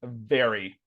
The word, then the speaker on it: very: The other one, yeah, you're biting your lower lip very.